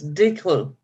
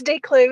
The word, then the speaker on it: DeClue: I mispronounced your name it's D clue it's declue and that's fine okay